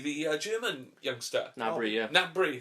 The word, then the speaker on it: Gnabry: Nabry, that's Yeah. it. I keep wanting to call him Gnabry. Gnab, or whatever. Because that's how it's spelled.